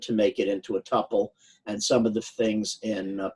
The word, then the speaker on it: tuple: make it into a tuple. Some of the things in Python are actually dealt with as tuples. Feel free to pronounce with a short-u or a long-u.